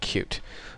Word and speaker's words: Qt: actually what we're gonna be covering it's called cute it's spelled cutie but it's pronounced cute and when you search Google you'll see a